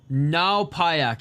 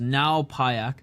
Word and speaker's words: Ngaopayak: Ngaopayak is his name. That's how it's pronounced. Ngaopayak.